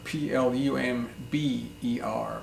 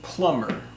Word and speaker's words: plumber: numb another word is Plummer PL um BER Plummer is not plumber' but Plummer so a plumber is